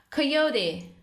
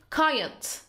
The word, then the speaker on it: coyote: The first one is coyote. And the second one is coyote.